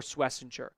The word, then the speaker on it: Schwesinger: But, it was a very good season for Swissinger. And I am pronouncing that correctly, by the way.